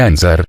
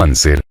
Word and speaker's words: anser: la historia de ansar no se dice ansar sino anser clamaba plomo pero el